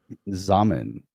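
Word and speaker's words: Xaman: Zaman rhymes with ramen. Rhymes with Joey. ramen. Joey Because rhymes with Zum Joey. wasn't good. Remember it was Zum? Zum was a hard one. Zamen's better. I like Zaman better, but Zum was good.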